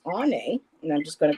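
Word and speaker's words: Áine: And her name is pronounced Ane.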